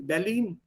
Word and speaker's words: Berlin: Berlin, nicht Berlin. Entschuldigung, Berlin ist das. Berlin. Which is why I keep also insisting here, ठीक तरह pronounce करो उसको. Ich fahre nach Berlin und nicht ich fahre nach Berlin. Berlin is English. The Berlin is Deutsch.